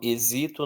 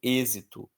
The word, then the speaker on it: êxito: Não falo exito, não falo exitô, eu falo êxito.